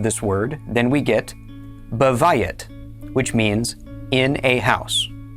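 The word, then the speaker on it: בית: It is spelled bait yod tav. This word is pronounced bay. Bayet means house.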